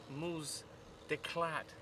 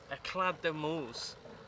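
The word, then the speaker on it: Éclade de moules: So we're going to do some cooking, and we think the French word for it is Moules d'Eclade. Eclade de Moules, the wife is telling me.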